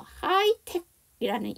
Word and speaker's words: high-tech: 이 끝에 붙어 있는 H가 다 묵음이 됐다는 얘기죠. 그래서 하이텍이라는 이 단어에는 H가 2개나 묵음입니다.